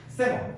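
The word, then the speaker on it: salmon: 세몬. 참고로 살몬이라고 발음 잘 안 해요. 세몬입니다. 세몬. 알겠죠? 세몬.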